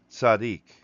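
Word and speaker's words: צדיק: It's pronounced Tsadiq, and this means straight.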